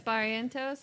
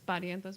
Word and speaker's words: Barrientos: Andres Barrientos. It's Barrientos, but Barrientos, if you're looking to spell it phonetically.